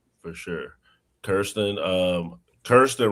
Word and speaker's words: Kirsten: Kirsten, um Kirsten, right? I said it right. Right. It's Kirsten, but that's okay. Kristen, what's your final thoughts? Said it wrong.